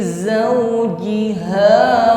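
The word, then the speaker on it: زوجها: Ada bunyi desis di situ, jangan diucapkan seperti huruf jim fi jauji, bukan jauji. Nampakkan safir atau bunyi desisnya. Fi zawjiha wa shin sukun, nampak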